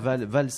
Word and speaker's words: Valls: Voilà, nous avons réglé le problème de la prononciation du nom, donc Valls comme la valse.